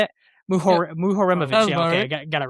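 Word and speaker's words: Muharemović: Mu Muhoreovich.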